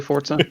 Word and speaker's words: Forza: me of forza which i refuse to call forza but i think it's technically forza it's like pizza i don't see it